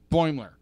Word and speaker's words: Boimler: I'm not pronouncing your name. Mariner? Mariner. Mariner and what's the guy's name? Boimler. Boimler.